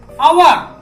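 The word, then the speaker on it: hour: क्या हो रहा है, आवर, आवर, ये एच जो है वो साइलेंट हो जा रहा है।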